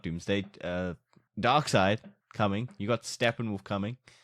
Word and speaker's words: Darkseid: I said dark side also it's not Darkseid it's dark side that's what I thought